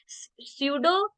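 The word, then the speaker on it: pseudo: स्यूडो differentiation, P is silent, इसे स्यूडो differentiation पढ़ते हैं।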